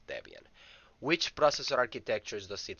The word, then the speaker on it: Debian: is based on debian although some people pronounce it as deviant i prefer to pronounce it as debian which processor architectures does